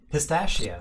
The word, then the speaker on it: pistachio: Pistachio. Pistachio. Pistachio도 아니고 pistachio라고. SH 발음이지? It's more of a sh. Pistachio. Pistachio. It's spelled CH, but it's an SH.